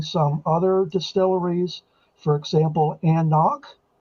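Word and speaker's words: AnCnoc: other distilleries for example and knock it's spelled a-n-c-n-o-c it's a little bit of a weird spelling okay anak is another one that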